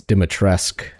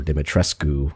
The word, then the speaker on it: Dimitrescu: Actually, I think it's Dimitrescu or Dimitrescu in Romanian. But I'm going to say it without the U. Dimitrescu. So, after we enter Castle Dimitrescu, we're forced to navigate